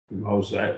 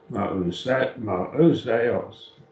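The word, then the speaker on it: Mōuseōs: Moseus, and Moseus, four syllables. Moseos.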